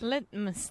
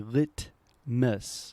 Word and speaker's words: litmus: Litmus test. Okay, this is a great pronunciation word because we have what we call a stop T sound.